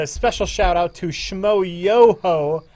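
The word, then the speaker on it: Schmoyoho: And a special shout out to Shmo Yoho. Accent on the yo.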